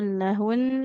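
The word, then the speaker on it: لَهُنَّ: Nunnya disukunkan tapi tetap dengan gunah. libasul lahun. Jadi gunahnya tetap harus dibaca meskipun di situ nunnya nanti jadi sukun ya.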